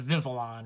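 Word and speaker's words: Vivillon: excuse like I mean so it's a vinvelon right there's no second there's no third eye after the L's so many people say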